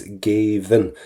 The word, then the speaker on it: Géibheann: So we're going to get that V sound. Now the reason why that's getting the V sound is the slender letters are wrapped around it, as we talked about earlier on.